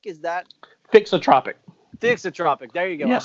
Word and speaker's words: thixotropic: And there's a name for that, and I'm going to probably mispronounce it, but it's Thixotropic. Is that Thixotropic.